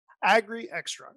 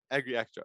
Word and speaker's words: AGRIXTRA: AGRIXTRA is what we call Extra. it. Oh, you're doing it. Okay. AGRIXTRA. Right. Okay. I was Emphasize on the X as an got you. AGRIXTRA.